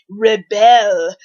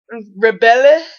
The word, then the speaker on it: Rebelle: the NERF Rebelle, and that's spelled like rebel, except the bell part is like belle, as in Beauty and the Beast bell. Beauty and the Beast bell, very feminine. Rebelle. Rebelle? Rebelle?